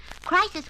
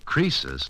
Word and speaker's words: Croesus: Crisis was a rich king. Oh, don't you know, Susie? Croesus, not Crisis, was a rich king.